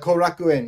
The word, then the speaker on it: Korakuen: the baseball field uh Cor I believe I'm pronouncing that right right John uh korakuen yeah Kaku yeah but um so Shinzo was on they